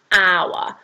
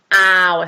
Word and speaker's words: hour: say an hour so that doesn't start with a vowel sound and actually starts the h um but it's a silent h so it says like an hour sound so we've got that owl sound which is our vowel sound so that's when it